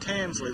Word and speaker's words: Tansley: Tansley, the way it's spelled.